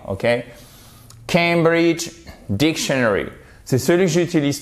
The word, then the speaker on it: Cambridge: Et c'est pas Cambridge, c'est Cambridge. Ça, c'est une diphtongue en phonétique, c'est le A, comme le A de oseille. OK? Cambridge Dictionary.